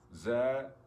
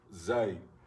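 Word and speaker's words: زاي: Za, zi, zu. Okay? Za, zi, zu. The letter itself is called zay. Zay. Zay.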